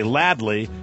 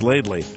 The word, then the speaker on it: Laidley: Most people say Ladley, but it's pronounced Laidley.